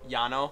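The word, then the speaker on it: Llano: store on uh what Lano Yano yes yeah Double L it's pronounced as a y guess what it's time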